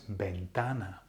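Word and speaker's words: ventana: an accent or not next word bentana bentana window so it finishes with a so therefore the emphasis needs to be on the second last vowel bana that's in the perfect place bentana yeah it's not bentana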